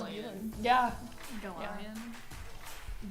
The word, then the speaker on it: Galion: it might People could be mispronounce Galion. Bueller. Yeah. Galion. I've Gallon.